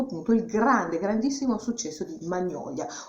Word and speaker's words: Magnolia: il grandissimo successo di Magnolia, oppure, se vogliamo fare i fighi, Magnolia, perché questa sarebbe la giusta pronuncia americana, Magnolia.